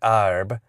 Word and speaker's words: herb: And we decided to go a little bit towards the more popular, common pronunciation of the time, arb.